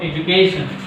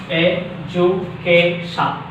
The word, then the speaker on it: education: Education. Education. So the pronunciation is education.